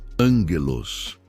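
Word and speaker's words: ἄγγελος: Para aprofundarmos neste conceito, podemos olhar para a palavra grega para anjo, que é ângelos, se pronuncia angelos.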